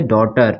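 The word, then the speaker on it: daughter: ये ठीक है ना ब्रॉड इसको क्या पढ़ेंगे डॉटर इसको क्या पढ़ेंगे डॉटर साइलेंट हो जाएगा इसको हम पढ़ेंगे डॉटर क्या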